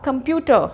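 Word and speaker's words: computer: आर इज इन the final place, कंप्यूटर नहीं होगा, कंप्यूटर। हमने ट पे ही स्ट्रेस करना है, कंप्यूटर।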